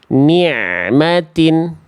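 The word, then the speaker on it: نعمت: Cuma Bunda bacanya terlalu neken. Jadinya bunyi suara ainnya mampet, dia hilang. Ni'matin, jangan ni', tapi ni'matin. Ni'matin.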